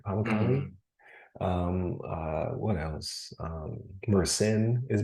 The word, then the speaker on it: Pamukkale: Pamukkale.